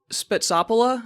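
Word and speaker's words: Spetsopoula: So this is Spetsopola, I believe is how it's pronounced.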